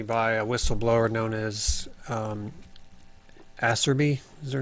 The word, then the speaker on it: Iserby: And if you look at some of the testimony by a whistleblower known as Asserby, is her name? I forget her full name. I can't pronounce it, but it sounds Iserby.